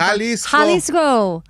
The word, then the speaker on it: Jalisco: Halisco. The G is silent. H. It's a J.